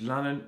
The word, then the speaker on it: Lannen: My name's Lannen, rhymes with cannon, and I'll just get to it.